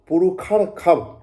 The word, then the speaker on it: पुरुषर्षभ: ही मतलब कारण के, पुरुष, पुरुष सर्षभ, पुरुखर खब, मूर्धन्य स का उच्चारण स और ख दोनों होता है।